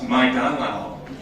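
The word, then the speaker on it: 麦当劳: In China, McDonald's is pronounced Maidanao. So again, McDonald's, Maidanao.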